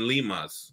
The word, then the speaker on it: limas: It's limon and limas here. That's how you say it.